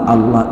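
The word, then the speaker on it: الله: dari tajwidnya untuk wawloh lafal Allah bilamana diawali dengan hak-hak atau juga bom magmaka lafal Allah ini dibaca tafkhim Allah tafkhim alias tebal jadi tidak semuanya lafal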